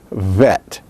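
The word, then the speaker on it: ב: without a dog-ish now the second letter is pronounced without a dog-ish as vet vet it is bilabial that is you use both lips it is fricative that is there is that sound of friction and it is voiced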